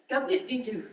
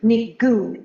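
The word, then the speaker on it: Gobnait Ní Dhuinn: Ni Goon. Think of Goon, like goo, goo, goo. So you don't pronounce the D. You pronounce it D-H. So in the Irish language, D and H together, pronounce it G.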